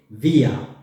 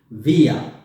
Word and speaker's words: wir: When you want to talk about we, you say wir. Wir. Wir. That means we. You see, it's written W, but the pronunciation is like a V.